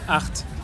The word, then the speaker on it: Hoheacht: HOHEACHT HOHEACHT :) Ça se prononce comme « Haut 8 ».